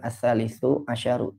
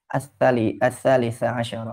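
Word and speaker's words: الثالث عشر: Jadi dibacanya bukan as-salisu asyaru, tapi as-salisa asyaru, ar-rabi asyaru, al-khamis asyaru, begitu ya.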